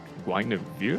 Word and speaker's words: Guinevere: We have the bans in you call how you spell it? Yeah, spell not how to say Guinevere.